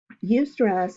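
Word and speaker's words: eustress: but then there's also something called you stress it's spelled EU STR ESS you stress is considered positive stress you stress involves a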